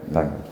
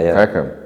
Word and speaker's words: Peckham: You're from, it's how you pronounce Peckham, right? Peckham.